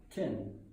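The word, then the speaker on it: 天: Le premier, il se prononce Tian, le ciel.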